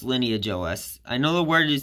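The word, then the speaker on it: LineageOS: of yeah it's pronounced lineage OS I know the word you spelling kind of weird way but yeah it's pronounced lineage like the lineage of UNIX based operating systems which I think might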